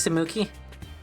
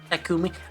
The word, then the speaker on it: Takumi: Thanks, Samuki. Takumi. Oh, his name is Takumi because it's Taki. I've been saying it wrong this entire time, haven't I?